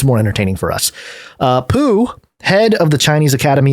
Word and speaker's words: Poo: says one of its Architects neuroscientist moo Ming poo look I'm not here to make fun of